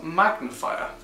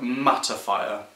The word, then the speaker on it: mattifier: product review of hairpins magnifier one thing I've just realised was such a quite embarrassing is that I've been pronouncing this one wrong I think I've been calling it magnifier this is called mattifier so just gonna throw